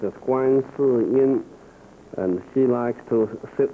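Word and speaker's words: 观世音: It's a goddess of mercy, and In Chinese, pronounced as Guan Si Yin, and she likes to sit on top of the lotus flowers.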